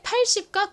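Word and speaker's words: eight: 80 8이 8 이었죠에 철자가 조금 복잡하죠 묵음이 들어가기 때문인데요이 뒤에 오는 아 혹은 e 소리가 나는 덩어리 철자가 뭐였죠 바로 i g h t입니다 여기서 gh 소리가 안 난다고 말씀드렸죠 자가 있으니까 y 붙여주시면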